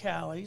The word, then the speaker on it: Caleys: Yeah, it's definitely spelt like Kaylee's, I found out, but it's pronounced Callie's. I think I was calling it Kaylee's forever, and I've known you for 20 years.